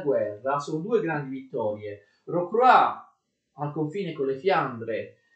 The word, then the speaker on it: Rocroi: La prima è la vittoria di Rocroi, si scrive Rocroi, ma si legge Rocroi, e viene ottenuta dal principe di Condé, d'accordo?